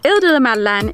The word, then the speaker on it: Îles de la Madeleine: Or the French pronunciation, Îles de la Madeleine, is a series of islands and an archipelago in the Gulf of St.